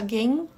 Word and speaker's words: gain: Porque se for só gain, isso não é essa palavra aqui. Tá? Então, quando a palavra terminar em N ou a sílaba terminar em N, ele precisa ser bem pronunciado.